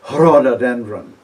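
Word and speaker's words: ῥοδόδενδρον: an h sound before the greek r by the way is always pronounced with an h in front of it like rhododendron in greek would be herododendron and i suspect the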